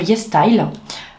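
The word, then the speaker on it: YesStyle: Je les achète sur Yes Style. Ça s'écrit comme ça se prononce, Yes Style.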